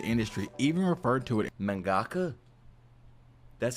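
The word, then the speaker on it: 漫画家: who escaped the industry even referred to it mangaka that's how you say it mangaka I thought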